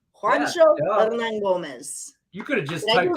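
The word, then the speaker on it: Juancho Hernangómez: So you pronounce it Juancho Hernan Gomez.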